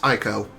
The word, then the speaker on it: Eiko: And also, it is pronounced Aiko. Or Aiko. Oh my god.